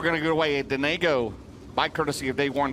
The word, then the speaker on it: Denago: The correct pronunciation, I don't know this, is Denago. I did not know that. So there we go. Donago.